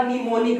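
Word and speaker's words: mnemonic: अब निमोनिक के पहले M है, अब M जो है ना ये साइलेंट है, M क्या है, ये रूल है, M के बाद N, ये M साइलेंट है।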